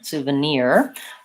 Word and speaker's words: souvenir: then our sound souvenir so I'm thinking about this as the diphthong ear here and short so I would rewrite it as soo ah near maybe I would write near like that because it's the same as our word near souvenir and just practice whichever